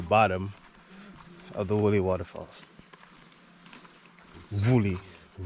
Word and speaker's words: Wli: Woolly Waterfalls. That's what I was told that the proper pronunciation is.